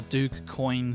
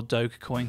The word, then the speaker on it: Dogecoin: Today we're doing a continuation of our Dogecoin series, or Dogecoin series.